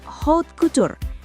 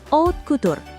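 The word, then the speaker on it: haute couture: Kita sebut aja dia Bapak Hot Kutur atau bacanya O Cutur.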